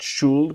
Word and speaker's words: should: Now remember, should the L is silent, not should, but should.